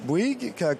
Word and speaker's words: Bouygues: All right, I'm joined now by Edouard Bouygues, Deputy and CEO and Chairman of Bouygues Telecom. Welcome to the show. Good morning, and congratulations for pronouncing Bouygues, which is not an easy word for a non-French speaker.